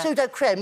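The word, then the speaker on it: Sudocrem: Is this called pseudo creme or cream? Pseudo creme. It's spelled creme. Pseudo creme.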